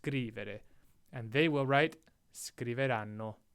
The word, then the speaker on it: scrivere: Remember how we covered how ere verbs, sometimes the emphasis is on the third to last syllable, sometimes it's on the second to last. Well, scrivere is one where it's on the third to last, scrivere.